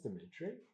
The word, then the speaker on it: Dimitri: My name is Ditri. And if people can't handle that, pronounce that, that's their problem, not mine.